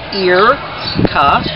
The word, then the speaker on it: Irka: My name is Irka, pronounced Irka.